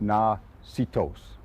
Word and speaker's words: Natchitoches: a place of and the closest pronunciation that I can I can produce for you is in Caddo it was na see toes and see toes means